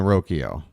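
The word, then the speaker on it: Rocchio: to First in time it rhymes with Tokyo okay so it's Brian rokio I've heard people call it roio but uh you know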